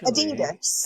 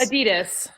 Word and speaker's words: Adidas: How do you pronounce that? What did Crazy Train say? Hang on. Or Dixie? Actually, Adidas. Adidas.